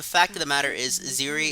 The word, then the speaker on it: Ziri: You know, the fact of the matter is, Ziri is an excellent way to get around not calling it Siri, because in pronunciation you could still say Siri, Thank you, Histy.